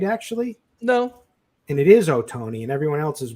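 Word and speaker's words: Ohtani: has it right actually no and it is oh Tony and everyone else is wrong and he it's from the it's the true Japanese pronunciation of the Americanized version so it is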